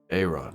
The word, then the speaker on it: Arawn: I know him as Aaron. Can you spell that?